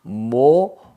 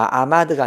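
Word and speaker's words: מָעֳמָד: 그래서 모오마드가 되는 겁니다. 모마드. 그러니까 마아마드가 아니고 모오마드가 되는 겁니다.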